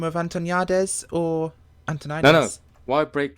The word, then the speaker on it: Antoniades: He skips the T altogether. But the way you pronounce it, they miss a lot of letters in the English language. It's not their fault. The way you actually pronounce it is Antoniades.